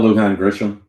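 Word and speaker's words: Lujan Grisham: because her what her what's her Michelle Luhan Gisham I did the Luhan part I wasn't sure to pronounce Michelle Luan Gisham she's had one of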